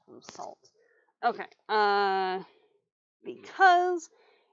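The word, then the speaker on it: Sault: gonna pick up but it's spelled s-a-u-l-t so if you're reading it um if you're reading it with an english i then just like uh just like basically anything else that has um french origins yeah probably pronounce it wrong i the same as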